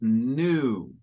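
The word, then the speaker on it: knew: the third word is new okay so it's kind of funny yeah it has that K there but it's pronounced exactly the same as the word the adjective new so a new car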